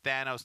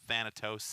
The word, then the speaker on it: Thanos: Oh, we've been saying it wrong. It's Thanos, not Thanatos.